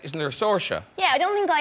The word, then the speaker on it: Saoirse: Saoirse, like inertia. Because people don't get it otherwise. They butcher my name. But in Ireland, people say it different ways. So, like, isn't there a Saoirse?